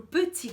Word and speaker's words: petit: Gente, e a dica de pronúncia pro petit gâteau é a seguinte. Como eu já falei, vocês viram ali petit. Termina com T, mas a gente geralmente não pronuncia as consoantes finais em francês.